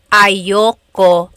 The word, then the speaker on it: ayoko: Usually it's pronounced ayoko siya. So if you want to sound a little bit more natural, you put everything together, ayoko siya. Ayaw ko siya is ayoko siya.